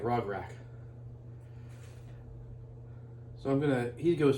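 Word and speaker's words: Rograkh: go first and yes i know as always i'm saying it wrong and i spell it wrong in the description but i don't care you know because it still seems like rock rack so i'm gonna he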